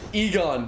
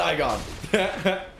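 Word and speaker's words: Eygon: Egon, not Igon. Slightly different.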